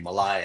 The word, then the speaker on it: Malay: I know people like to say Malay because this is the way it's spelled, but it's actually Malai, and there's no harm.